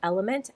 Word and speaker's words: LMNT: So I really like, I believe it's pronounced Element, LMNT. It's all capital letters.